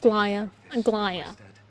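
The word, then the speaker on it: Aglaea: Aglia, would you mind? Aia, that's how you say it.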